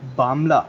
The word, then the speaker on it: Bangla: So Bangla language next to Assamese, Bangla is also known as Bamla. Means exactly if you do that pronunciation in a bit fast, you it will resemble like Bamla.